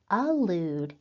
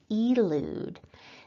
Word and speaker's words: allude: important to study because sometimes people will pronounce alude as elude so you really need